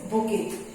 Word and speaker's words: bouquet: बुके, collection of flowers is called बुके, BOUQUET, pronunciation is bouquet, bouquet of flowers, we say bouquet of flowers, okay।